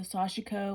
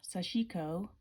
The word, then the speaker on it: Sashiko: Now, these were the Big Eye tulip needles, the Sashiko or Sashiko.